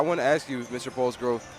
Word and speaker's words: Polsgrove: We're here with our new first-year Mishawaka athletic director, Polsgrove. Did I pronounce that right?